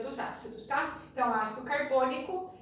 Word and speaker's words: carbônico: Lembrando que a sílaba tônica nunca será a última, então não é ácido carbônico, é ácido carbônico, tá?